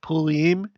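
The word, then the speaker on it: Purim: the spirit of pulim that that's how you pronounce it pulim because you're supposed to pronounce R like that the spirit of Pulliam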